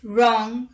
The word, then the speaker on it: wrong: w rule number one w is not pronounced at the beginning of a word when it is before the letter r let's look at the examples rap right wrong ring wreck wrestle and